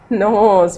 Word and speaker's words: nose: We will learn the sound of O with silent E. Ready? Yes. I'll show you some pictures. What is this? This is nose.